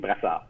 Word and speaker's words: Brassard: The French pronunciation is Brassard, but Bassard. Broussard is good.